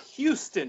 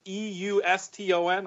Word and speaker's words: Euston: thought it was so interesting apparently it's not Houston JK Houston like the train station in London like it pronounced EU sto n I did not realize this but he insisted